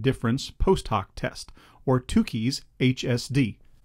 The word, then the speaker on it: Tukey: post hoc test or Tukis HSD. The correct pronunciation is Tukis. Students are often getting this incorrect. It's Tuki, not Turkey. Now the two keys post hawk test involves this formula.